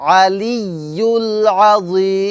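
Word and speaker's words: الْعَلِيُّ الْعَظِيمُ: আজিম আবার বলুন আলিয়ুল আলিয়ুল আজিম আজিম এখানে কিন্তু আছে হ্যাঁ আর এখানে নরম হবে উচ্চারণটা নরম হবে আলিয়ুল আজিম মাশাল্লাহ আবার বলুন আলিউল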